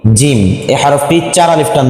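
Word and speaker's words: ج: হরফটির নাম হলো কি জিম এই হরফটি চার আলিফ টান দিতে হবে জিম জিহ্বার মধ্যখান তার বরাবর উপরে তালের সঙ্গে লাগাইয়া শক্ত কইরা হ্যাঁ জিম আবার বলছি জিম কোনটা কত আলিফটা নিয়ে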